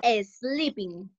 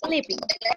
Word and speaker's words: sleeping: Cuando el verbo empieza con S, no vayan a decir sleeping. La E en inglés no existe en la pronunciación, solo dicen el sonido de la S. Así, sleeping, sleeping, ¿ok?